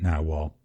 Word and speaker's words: Nahvalur: the new spelling of it but they're still pronouncing it now well I believe it's Icelandic for now well and